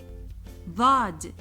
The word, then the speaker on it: ضاد: Like the TH sound in that. Just try to exaggerate when you say the. The. The manner of pronouncing that is done by the tip of the tongue touching the upper back teeth.